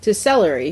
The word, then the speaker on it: Selery: It's SELERY fulfillment. Celery, like the food you eat, but spelled with an S.